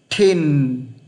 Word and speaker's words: thin: Thin, vị trí cuối cùng của chữ N nhé. Thin, không phải là tin thôi nhé.